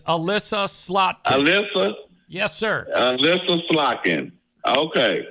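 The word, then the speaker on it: Elissa: Elisa Slotkin. God for damn Senate. it. No, Thanks. it's Alyssa. It's Alyssa Slotkin. Alyssa?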